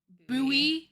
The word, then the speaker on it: Bowie: indeed a town named Buoy Maryland but in Texas it's wait hold on it's pronounced buoy it's named after Jim